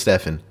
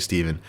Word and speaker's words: Stephan: It's spelled with a PH and an A, so you'd think it's Stephan, but it's actually Stephen.